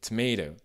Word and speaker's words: tomato: Pour rester sur le même mot, à l'écrit, il y a un T au début et il y a un T dans la dernière syllabe, mais si vous écoutez bien, en anglais américain, c'est tomato. C'est quasiment un D, le deuxième T.